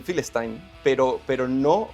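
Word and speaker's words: Filastin: A ver, eh por ejemplo, la P para pronunciar Palestina no se puede pronunciar dentro del del árabe. Entonces, normalmente se le dice Philestin, pero pero no, o sea, tú no puedes nombrarlo porque no existe.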